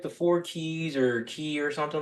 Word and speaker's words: Ki: off more but in ja Japanese it is key uh and to me that's personal because I